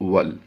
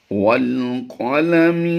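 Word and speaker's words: وَالْقَلَمِ: जब भी साकिन हरफ आ जाए तो अलिफ खामोश हो जाता है, साइलेंट होता है, तो हम वाऊ को लाम के साथ मिलाकर पढ़ेंगे। वाऊ लाम ज़बर वल, वाल नहीं करेंगे, ठीक है।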